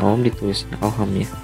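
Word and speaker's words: Ohm: adalah satuannya ya atau kita namakan sebagai Om dibacanya Om oke nah dari soal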